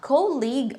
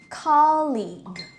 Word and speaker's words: colleague: diabetes okay so guys this word is pronounced as diabetes okay not diabetis next word would be this word this is not cold League but but this one is colleague okay okay guys so don't worry because I'll